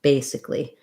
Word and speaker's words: basically: uh l y ending basically it also has first syllable stress and this letter i says a relaxed e sound so i point this